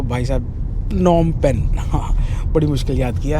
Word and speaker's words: Phnom Penh: की कैपिटल नम पेन अब हम सही बोलने लगे हैं नम पेन इसकी स्पेलिंग अलग होती है यह स्पेलिंग है पर इसमें पी साइलेंट है और उसमें एच साइलेंट है तो भाई साहब नम पेन बड़ी मुश्किल याद किया है।